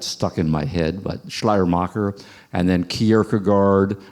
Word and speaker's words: Schleiermacher: Am I pronouncing that correctly? Yeah, Schleiermacher. I first learned Schleiermacher from a Canadian professor who always pronounced it as Schleiermacher.